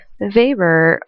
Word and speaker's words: Weber: It's pronounced Weber because he's German. That's the German pronunciation. Max Weber is a German political economist and social theorist.